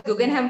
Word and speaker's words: Guggenheim: by US dollar 200 billion B fund it's pronounced as Guggenheim Partners right right yeah how was your journey